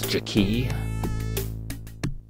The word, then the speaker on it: Jakey: stick to your job it's pronounce jaki get in my face